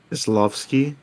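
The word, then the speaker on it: Kieślowski: one, Oh yeah, Kieslowski and how do you pronounce his name again? Kieslowski, I believe.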